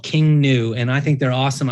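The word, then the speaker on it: King Gnu: called King new and it's King new is spelled GN I think they're pretty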